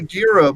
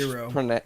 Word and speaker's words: gyro: It's a gyro. People call it a gyro, but they're gyros, right? I think it's actually like the Greek Hero. pronunciation is hero. It's hero.